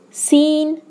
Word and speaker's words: scene: First one, the silent C usually follows the letter S. As examples, scene, science.